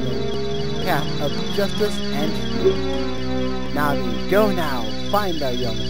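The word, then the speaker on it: Navi: Thou come hither yes this pronounced na'vi not n not Nava it not na'vi it's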